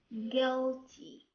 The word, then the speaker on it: guilty: Sometimes U is silent when it comes after letter G. بمعنى بعض الأحيان كيكون اليو silent إذا جا more letter G. An example: colleague, guide, tongue, guilty.